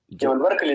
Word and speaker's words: Jebel Barkal: Jebel Barkal is one of the heritage sites in the north, Jebel Barkal.